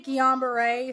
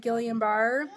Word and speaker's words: Guillain-Barre: and her diagnosis with, I say Guillain-Barre, some people pronounce it Guillain-Barre, autoimmune disorder that attacked the nerves in her spinal system and paralyzed her from the neck down.